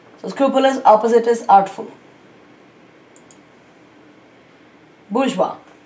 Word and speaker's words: bourgeois: scrupulous opposite is artful bourgeois so this is like a french word so uh remember the pronunciation is bourgeois and the four options